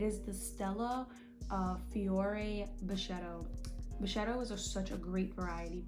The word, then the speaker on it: Brachetto: Brachetto is such a great variety, period, but it is not Stella Rosa.